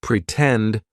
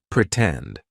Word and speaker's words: pretend: sound pretend for example in the word pretend the stress syllable starts with t tend pretend right so we're going to use the true T sound and then we can